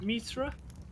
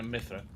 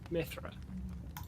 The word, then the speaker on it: Mithra: Is it Mithra? No, Mithra. Mithra.